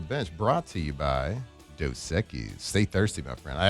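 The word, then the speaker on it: Dos Equis: And let's get to a little Ask the Bench brought to you by Doseekis.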